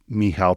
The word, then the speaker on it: Michal: So, if you look up my last name, which is pretty complicated, um, but it's, uh, um, Mihal, which is spelled.